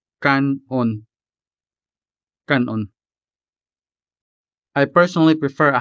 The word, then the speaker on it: kan-on: Also take note that these two syllables are separated by either a hyphen or in some cases simply by a space. But the pronunciation stays the same. Kanon.